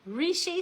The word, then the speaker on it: Reishi: You know, it's called Rishi. Sometimes people say rishi. I can't decide which is the best one because when you listen to the Chinese pronounce it, it doesn't sound like either of those things.